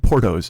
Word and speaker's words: Porto's: But, uh, Puerto Rico, not Puerto Rico, Porto the bakery, Porto. And it's not spelled like Puerto.